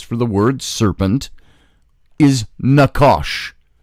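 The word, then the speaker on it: נחש: book of Genesis for the word serpent is Nakash Nakash it's na CH a SH pronounced na W caution aakash Nakash c hebrew word and it's got a definition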